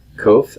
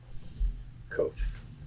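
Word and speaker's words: קוף: It is a Q. Not the Q of quiet. It's going to be, well, we don't have any Q sounds that sound like it, but it'll be pronounced like a K sound, but it's transliterated as a Q.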